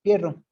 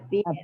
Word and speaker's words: Pierre: A ver, Pierro, te escucho. Pierre, Dígame. economista, mi nombre se pronuncia Pierre.